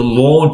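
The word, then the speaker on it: Lorn Park: Yeah, but it's spelt a bit different. Oh. Lawn is L-A-W-N and they're L-O-R-N, lawn.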